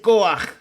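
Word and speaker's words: כֹּחַ: Entonces, estamos viendo que la fuerza en hebreo se dice coaj. Y la palabra coaj cuando usted la pronuncia en hebreo tiene que decirlo con fuerza. Sale sale de de adentro.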